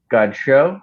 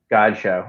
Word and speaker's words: Godchaux: Godchaux. I like it. Maybe he's from the Bayou and it's good show. Godchaux. You got to put the emphasis on the right syllable.